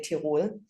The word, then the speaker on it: Tyrol: in Tyrol. I think that's how you pronounce it. In Germany, we say Tirol.